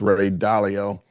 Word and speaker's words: Ray Dalio: It's Ray Dalio is actually how he pronounces his name, so he'd probably appreciate it since you're giving him props that you pronounce his name correctly.